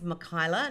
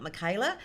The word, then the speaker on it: Mikyla: its its differentiates me people say my name wrong it's Mikayla not Mikayla so you know I